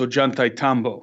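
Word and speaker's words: Ollantaytambo: video I was with LA at the it's pronounced oh geun-tae yeah that's it and very few people know how to really pronounce it but it is Ajanta Tombo is one of the best examples of cyclopean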